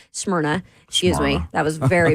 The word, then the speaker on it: Smyrna: They've got locations in White House, Mount Juliet, Rivergate, Smyrna, Smyrna, excuse me. That was very bad pronunciation.